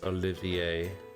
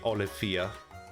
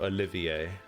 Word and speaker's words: Olivier: RIT H yeah well I'm perfectly happy you're going for French then it's Olivier I mean I guess I could could just say it the German way I could just say Olia it's definitely not that though my name is OE four French style is what the original games original game uses well so Olivier eh